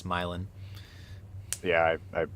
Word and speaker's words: Milan: Did you say Milan accidentally drew? It's Milin.